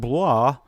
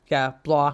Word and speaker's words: Blois: always throws me off, because Blois. Why do we need so many syllables in there? Why? Yeah, Stephen of Blois. He's a vampire. Bleu. I mean, basically the emotional support letters in French.